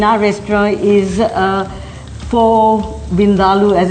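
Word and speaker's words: vindaloo: favorite dishes in our restaurant is uh for vindal as it's correctly pronounced because next time you go to an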